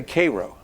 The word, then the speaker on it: Cairo: I suppose told you had to say Koo not Cairo Koo Illinois how did they figure